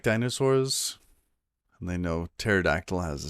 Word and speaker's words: pterodactyl: Why can't you hear a pterodactyl use a toilet? I know where this is going. Because the P is silent.